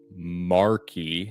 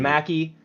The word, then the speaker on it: Markey: Senator Ed Markey. Mackey. His name's Mackey. He's from Massachusetts. It's Ed Mackey. I literally listened to him pronounce it properly. Yeah, I know, and he says Mackey.